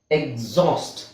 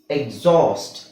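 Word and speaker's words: exhaust: ಇದು ನಿಮಗೆ ಕನ್ಫ್ಯೂಸಿಂಗ್ ಆಗುತ್ತೆ ಬಟ್ ನೋಡಿ ಈ x ಆದಮೇಲೆ hಚ್ e x ಆದಮೇಲೆ hಚ್ h ಸೈಲೆಂಟ್ ಆಗಿರುತ್ತೆ h ನನ ಅವಶ್ಯಕತೆ ಇಲ್ಲ ಅಲ್ಲಿ ಓಕೆ ಎಕ್ಸಾಸ್ಟ್ ಆವಾಗಲೂ ಇದರ ಮೇಲೆ ಒತ್ತುಕೊಡ್ತೀವಿ ನಾವು ಓಕೆ ಸೊ ಇಲ್ಲಿ ನೋಡಿ ಮುಂದಿನ ವವೆಲ್ ಮೇಲೆ ಒತ್ತು ಬೀಳುತ್ತೆ ಅದು ಎಕ್ಸಾಸ್ಟ್ ಎಕ್ಸಾಸ್ಟ್ ಓಕೆ ಅವಾಗ ನಾವು x x ಅನ್ನ ನಾವು zಡ ಜಿ ಮತ್ತೆ z ಗ ಹೇಳ್ತೀವಿ ಎಕ್ಸಾಸ್ಟ್ ಎಕ್ಸಿಬಿಟ್ ಎಕ್ಸೂಮ್ ಎಕ್ಸೇಲ್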